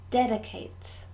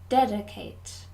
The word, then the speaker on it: dedicate: him with praise 9 dedicate dedicate 3 syllables dead Kate and we stress the first syllable dedicate dedicate good ten